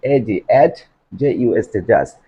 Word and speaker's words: adjust: Usually we pronounce this word ad, just, just. But the pronunciation of this word will be according to the correct pronunciation as like as a British and American. That my dear learners, adjust, adjust, adjust.